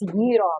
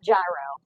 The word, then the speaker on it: gyro: It's gyro, not gyro. It is pronounced gyro.